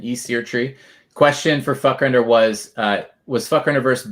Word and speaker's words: Fvckrender: We got Fvckrender, and by the way, that is pronunciation, Fvckrender.